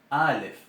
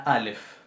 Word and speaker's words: Aleph: Bien, recordemos la Aleph. La Aleph no es un sonido de letra A, no es una vocal. La Aleph representa una oclusión glotal.